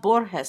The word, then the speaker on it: Borges: It's pronounced Borges.